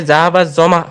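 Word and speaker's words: ذهب الظمأ: এক জায়গায় বলেছেন যে জাহাবা জমাও অন্য একটা লেকচারে আপনি বলেছেন যে জাহাবা জমা হবে উচ্চারণ করবেন জি জাহাবা জামা এটাই শুদ্ধ ওটা আগের হয়তো আলোচনা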